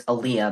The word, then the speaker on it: Aleia: because my name is So, my name is Aaliyah, but it's spelled, you know, A L E I A.